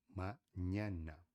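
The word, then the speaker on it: mañana: A única letra que tem tio é o n que acaba ficando como n, a gente conhece como n, tá bom? que o som é de parecido a o nh você, tá bom? É parecido, tá? Não é igual, lembra-se, não é igual, é parecido.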